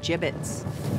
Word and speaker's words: gibbets: here dead end hey look avery had some gibbots left over gibbets what it's pronounced gibbets are you sure yeah well no one likes